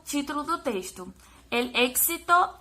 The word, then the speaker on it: éxito: A gente tem aqui éxito, que é uma palavra cognata, que no português vai se escrever da mesma forma, tirando o acento, né, a acentuação. E a pronúncia vai ser diferente, êxito.